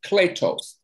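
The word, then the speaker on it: κλητός: So in the Greek, the word called means, or it's pronounced kletos.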